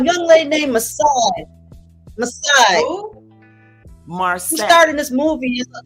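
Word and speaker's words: Marsai: Marseille. Who starred in this movie? Her name is Marseille.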